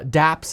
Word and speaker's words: dapps: of d apps or dapps essentially d phi applications shortened and spelled d apps but pronounced dapps here they are there